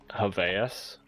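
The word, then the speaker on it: Javayus: an else, but it's the first name is JavaS, but it's spelled J A V A YUS cuz I was kind of like thinking of the name Javier.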